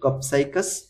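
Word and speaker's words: Copsychus: এই যে এটা সোলারিস উচ্চারণ কি হবে কপসাইকাস কপসাইকাস সেওলারিস বা সোলারিস ঠিক আছে এইটা সে দোয়েল এরপর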